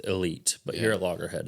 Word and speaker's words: Elyte: It's actually Callaway's pronouncing it Elite, but here at Loggerhead, it's the Elyte.